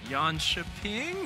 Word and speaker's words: Jönköping: a little bit intimidated right now because your pronunciation there of yan chaing was actually very on point I'm feeling very